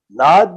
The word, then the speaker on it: नाद: Yeah, Nad means actually the right pronunciation.